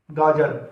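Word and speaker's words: گاجر: अब इसकी हिज्जे करके देख लेते हैं, गाफ अलिफ गा जीम रे जर। तो जब हम इसे मिलाएंगे आपस में तो पढ़ा जाएगा गा जर।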